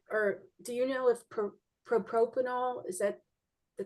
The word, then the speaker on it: propranolol: Joanne, do do you find or do you know if propropanol is that the correct uh pronunciation helps with the rage? Yeah, it's called propranol.